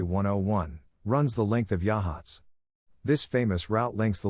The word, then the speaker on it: Yachats: a classic Beach Hamlet on the central Oregon coast pronounced yahs the community is bounded